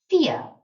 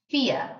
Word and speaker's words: vier: Our V in German makes a kind of F sound in English. So, vier, vier. And I wrote the English word fear there to help you. And again, you've got that IE as well. So we pronounce the second one. IE again makes an E sound. So vier again and vier. And then the U was almost like it's not there. I said so almost F, N, F.